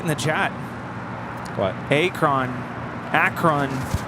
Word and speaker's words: Akron: that I certainly have that rhymes with apron now forget it Akron uh Akron it's accurate next time I'll just